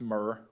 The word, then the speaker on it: mirror: Ines away in the mirror and yes I say mirror CU I'm from Belfast I don't pronounce it mirror it's pronounced Myer where I'm from so but we can't